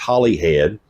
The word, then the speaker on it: Holyhead: Port Holly head okay I've been saying it wrong the whole time and I had it verified by our uh tour guide uh it's spelled holy head um it's Holly head she is born and raised in hollyhead and so I will take her word for it and our tour